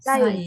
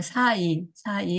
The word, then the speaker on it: 싸이: 싸이. 싸이. 이제 발음을 좀 세게 했죠. 싸이. 그랬는데, 그냥 사이 하면은 이렇게 되는데, 워낙에 유명한 인물이잖아요.